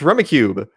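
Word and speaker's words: Rummikub: It's Rummy played with cubes. It's Rummy Cube.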